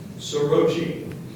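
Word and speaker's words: soroche: Your word is sorochi. Sorochi. Are there any alternate pronunciations?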